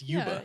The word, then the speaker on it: Yuba: Um, I guess I said it right. It's Yuba. Yeah, it's Yuba. Okay. Like I thought it was I thought it was like Yubba or something.